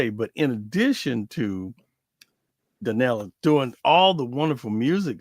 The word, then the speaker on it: Daniella: Is it Daniella?